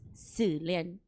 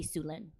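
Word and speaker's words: Xuelynn: it's spelled x-u-e-l-y-n-n so if you pronounce it in Hmong it's sulin but in to make it easy for everyone we just say sulin Okay Q okay q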